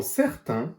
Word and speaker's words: certains: Le S est muet à la fin. Dans certains, les lettres A, I, N font le son 1 comme dans maintenant.